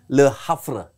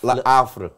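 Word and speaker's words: Le Havre: Terus ada Diego Leon, ada Enzo Kanabiyik dari Le Hafre. Bacanya begitu coach. Le le afre. Le afre.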